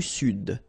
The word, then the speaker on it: Sud: L'Amérique du Sud. Here you should pronounce the D.